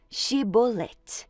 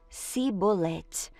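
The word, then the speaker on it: Shibboleth: Se o homem negasse, eles o mandavam dizer Shibolet. Se ele era de Efraim, dizia Sibolet, pois o povo de Efraim não conseguia pronunciar essa palavra corretamente.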